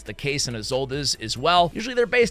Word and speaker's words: Isolde: I think I'm pronouncing that right. I even went and I looked online. Let's hear it. Isolde. I always want to say Isolde or D or whatever. But anyway, Isolde.